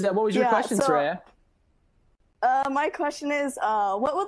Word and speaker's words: Sreya: I pronounced this correctly, I think it's Sreya. Is that right? Please correct me. It's right. I pronounced it correctly? Hey, yeah, you did. Yeah, you did. I know people get confused because there's no H, but yeah.